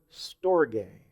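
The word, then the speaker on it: στοργή: word to describe family affection it's the word store gay that's how it's pronounced in the Greek but that's where we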